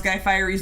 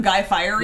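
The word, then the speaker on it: Guy Fieri: life dr detroit's uh correcting how you pronounce guy firey's name um it's from what were we watching we were watching something and somebody called him guy firey yeah somebody smarter and funnier said guy fire yeah so it's just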